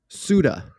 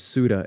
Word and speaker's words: Ceuta: So, it's not pronounced that way, but the English pronunciation is Ceuta.